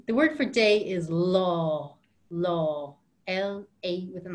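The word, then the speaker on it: lá: really good and the word for day is law law el a with an accent law and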